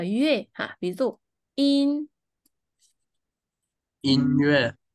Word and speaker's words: 音乐: 欢乐。sau này mình sẽ gặp từ lơ này có một cách đọc khác là yue ha, ví dụ in, 音乐，音音乐，乐对，哈，OK，或者乐队，乐队，tức là